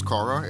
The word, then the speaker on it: Qorra: Her name is Korra. It's spelled Qorra.